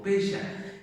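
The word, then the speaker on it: פשע: Recordemos que el pecado en hebreo, que significa o que se pronuncia como pesha, es más general y significa errar al blanco.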